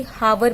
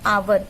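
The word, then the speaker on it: hour: हम इसे कभी कभी हावर पढ़ देते हैं क्योंकि एच है, हमने देखा ठीक है एच फॉर हैन, ह, तो यानी कि ये व्यंजन है, बट नो, in this case H is silent. यहाँ पे एच साइलेंट होता है, हम इसे नहीं पढ़ेंगे।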